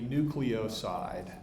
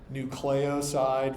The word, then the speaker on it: nucleoside: And there's really no favored pronunciation. There's a couple of different options. You will hear people say nucleoside versus nucleoside, doesn't really matter. But nobody ever really says nucleoside, so you got to pick one or the other anyway. I'll probably say it wrong now.